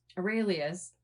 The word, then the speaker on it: Aurelius: I already forgot how to pronounce it correctly. Aurelius? Aurelius. Like, is that right? Yeah, like Marcus Aurelius.